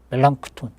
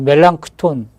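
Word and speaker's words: Melanchthon: 멜랑크톤. 어. 플랑크톤 멜랑크톤하면 플랑크톤하고 발음 비슷해 갖고 좀 헷갈릴 수 있는데 멜랑크톤 어이라고 필립 멜랑크톤이라고 루터의이 오른팔과 같은 사람이거든.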